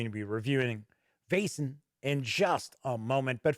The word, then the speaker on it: Vaesen: be like wasan vasin but i did see that it's almost as if it's like uh vaz like you know like a vase as we would say in america but i believe the correct correct i should say pronunciation is vasen so we're gonna find